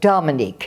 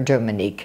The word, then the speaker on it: Dominique: And then they couldn't even pronounce Dominique. They would say Dominique, yeah.